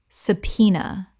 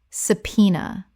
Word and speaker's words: subpoena: Subpoena. Correct pronunciation. Subpoena. 3 syllables with the B completely silent and the stress on the second.